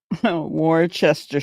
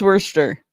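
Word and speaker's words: Worcester: Warchester. Sure. It's worster.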